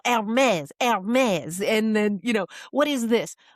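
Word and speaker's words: Hermès: And she goes, Hermes. And he's like, oh, no, Hermes.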